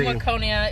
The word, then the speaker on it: Waconia: And they're going to be July 7th in Waconia. Is that how you pronounce it? Yeah, they're in Waconia.